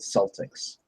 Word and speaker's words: Celtic: they call it the Celtics that's the only time anyone ever pronounces it that way is with the basketball team everyone else in the world it's it's Celtic okay sorry guys I'm